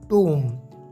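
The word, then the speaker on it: tomb: टूम, इसे आपने टॉम्ब या टॉम नहीं कहना है, बल्कि इसकी एक्यूरेट प्रोनाउंसिएशन है टूम।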